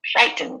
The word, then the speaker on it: frighten: second again not always there's frighten frighten which is a verb which is stressed on the first one and if you look